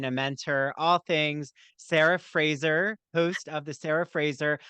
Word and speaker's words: Fraser: My grandparents, I don't know, somehow it morphed into Fraser, but it is actually pronounced Fraser. It's like Brendan Fraser, who I have to go and do a genealogy, like a 21 me.